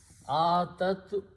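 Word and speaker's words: أتت: So here we are going to put in ta at the end, and it will be she, and this ya is not pronounced, as a weak letter.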